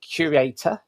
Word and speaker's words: Curaytor: So you run an agency called Curaytor, as I'm pronouncing that correctly. Yeah. Tell us a bit about that.